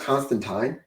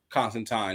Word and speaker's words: Constantine: By the way, do you know it's pronounced Constantine? Constantine.